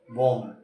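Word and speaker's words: bomb: क्या पढ़ते हो आप बम B silent reason am hard है बी सॉफ्ट है साइलेंट हो गया इसके डे डी टी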